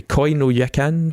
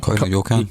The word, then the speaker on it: Koi no Yokan: Now, funnily enough, how do you pronounce it anyway? Koi no Yakan? Koi no Yokan.